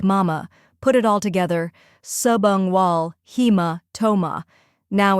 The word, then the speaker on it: subungual: the correct pronunciation is subang wall he first part subang wall sub like submarine un like lung and wall like wall second part hea he